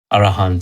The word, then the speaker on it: Arahant: Arahant.